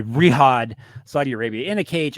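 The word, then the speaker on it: Riyadh: Eastern time pay-per-view the kingdom aren and Riad how do you say that Riad excuse me reod Saudi Arabia in a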